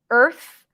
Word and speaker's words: Earth: Earth, by the way, Earth, planet Earth starts with EA, but it's the same sound as urgent.